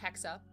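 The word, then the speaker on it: Hexe: name is hexa uh h-e-x-e it's German it's pronounced hexa um and she will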